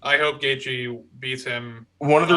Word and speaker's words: Gaethje: favorite fighters, I like Gaethje. I hope Gaethje beats him. One of the reasons unconscious. why is because his name is pronounced not the way it's spelled, and I don't care what anyone says.